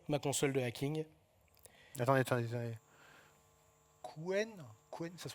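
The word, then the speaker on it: Qwen: Quen, ça se prononce comme ça.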